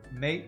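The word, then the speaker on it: maté: Mate with an accent on the E. It's a drink from South America.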